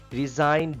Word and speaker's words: resign: Resign. G is silent here.